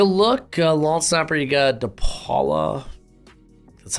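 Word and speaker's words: DePaola: but take a look lawn Snapper you got depala that's how you say his name uh Bryan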